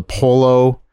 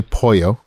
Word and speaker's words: pollo: everybody else is like I'll have the pollo it's quite obviously poyo yeah just chicken if